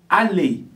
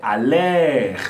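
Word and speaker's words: aller: francesa é meu verb a lei a lei significa Olá pessoal não é a ler certo aquele que no final você não vai pronunciar ele você fala Ale significa ir certo muito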